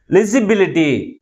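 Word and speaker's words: legibility: Okay, next one ఈస్ లిజిబిలిటీ. దీంట్లో ఎన్ని syllables ఉన్నాయి? దీంట్లో కూడా 5 syllables ఉన్నాయి. దేంతో ఎండ్ అయింది? ITY అనే సఫిక్స్ తో ఎండ్ అయింది. That's why the primary stress ఇస్ ఆన్ the third syllable from the last.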